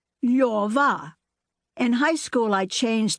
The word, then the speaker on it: Lyova: Position your tongue for an L, O. Then say yor, then say va, Lyova.